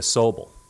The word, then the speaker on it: Sobol: him what it means means to be a soble i when oh yes that's spelled s o b o l it's not